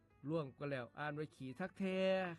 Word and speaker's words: ขี้ทักแท่: กัน แล้ว อ่าน ว่า ขี้ ทัก แท ครับ ขี้ ทัก แท นี่